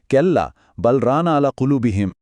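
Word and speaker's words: كلا بل ران على قلوبهم: আল্লাহ দিয়েছেন তিনি বলছেন কেল্লা বালরানা আলা কুলুবিহিম এই আয়াতে রান শব্দটা ব্যবহার করা হয়েছে যার মানে হলো মরিচা বা দাগ উচ্চারণটা হল কাল্লা বালরানা আলা কুলুবিহিম এই মরিচা কিভাবে আমাদের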